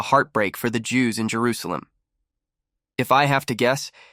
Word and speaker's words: Jerusalem: souvenir from Old Jerusalem the writing on the back says Jerusalem but in a kind of biblical way pronounced Jerusalem and not jeruselam as commonly pronounced in Israel today the building is a